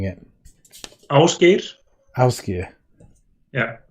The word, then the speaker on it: Ásgeir: Ásgeir. Yeah. So that's it's a rolling R in the end and ow, the first letter.